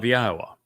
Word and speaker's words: Yahowah: Then the debar which is the word of Yahwa, not of Hashem, not of Jashi, not of Adoni, of Yahwa. That is Yahweh's name pronounced as instructed in his Torah regarding his haya existence.